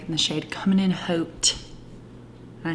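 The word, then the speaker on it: haute: modern matte lipstick in the shade coming in hoped and i say because it's spelled h-a-u-t-e and i'm going to use the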